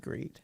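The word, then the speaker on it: Griet: i e t yeah and it was pronounced like you have to put the the hard G on there and she was like you can just call me greet and I'm like no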